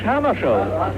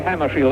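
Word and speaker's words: Hammarskjöld: his native seden well I pronounced myself in Swedish Hammer show but if you say hammeri that's all right with me dog hammercall Remains the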